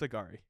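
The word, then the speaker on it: Angourie: them three I'd like is that really how you say your name agar yes the way it's spelled I would not yeah it is no it's agari I know it is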